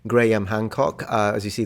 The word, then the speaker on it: Graham: who is uh Graham I finally learned how to pronounce it gram Hancock uh as you